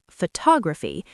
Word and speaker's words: photography: For example, in the word photograph, the stress is on the first syllable, photograph, but in photography, it shifts to the second syllable, photography.